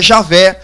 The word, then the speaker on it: Javé: Uns vão dizer que é Jeová, outros vão dizer que é Iaver, outros vão dizer que é Javé, outros vão dizer que é Ieoa e outros vão dizer que é Iau.